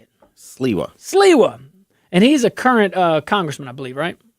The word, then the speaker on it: Sliwa: Sliwa.